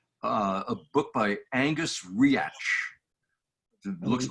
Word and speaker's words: Reach: continuum yes yes uh a book by angus reach looks like reach but it's spelled r-e-a-c-h but pronounced react uh if memory serves it's 1847 oh it's